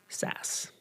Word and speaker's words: SaaS: techit track I think it's it's pronounced is in fact SAS.